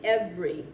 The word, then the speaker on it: every: say it i say every it's not every like it looks it's every what i've done is